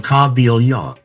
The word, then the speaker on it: Kabylia: He pronounced the name Kabylia, the KH, he pronounced as a guttural from North Africa.